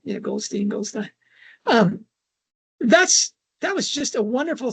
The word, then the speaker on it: Goldstein: I'm giving that the German pronunciation, Goldstein.